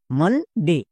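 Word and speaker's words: Monday: যেমন মানডে এখানেই সবার ভুল হচ্ছে। কেন ভুল হচ্ছে? কারণ ও ভাওয়েল ভাওয়েল দেখামাত্র রুল চেক করছো। রুল চেক করার দরকার নেই। প্রথমে চেক করতে হবে আকার সাউন্ড হচ্ছে কিনা।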